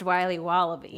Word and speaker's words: Wiley Wallaby: willy's wallabies wallaby wallies will be wobbly it's pronounced wiley wallaby well it's very good it's called wiley wallaby and it's delicious welcome back to the